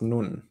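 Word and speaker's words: נון: if i can uh so it's pronounced nun yeah i know it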